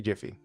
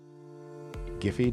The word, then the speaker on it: Giphy: Emoji panel switches from tenor to Jiffy. Giphy, depending on how you want to pronounce it.